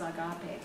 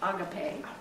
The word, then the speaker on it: agape: So, lastly, but not the least important, of course, is agape. Some people pronounce it agape, but either way, it's A-G-A-P-E.